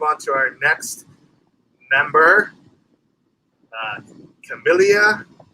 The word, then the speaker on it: Camellia: Let's move on to our next member, Camellia. Is that how you pronounce that name? Camellia Falco. It was a Camellia, yeah.